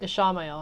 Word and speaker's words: Ishamael: Ishamael.